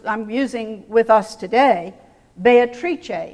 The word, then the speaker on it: Beatrice: using with us today Beatrice in Italian four syllables Beatrice three in English Comedia four syllables in